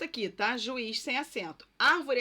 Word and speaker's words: árvore: Árvore é acentuada por ser proparoxítona. Então, árvore, a tonicidade está na antepenúltima sílaba, por isso o acento.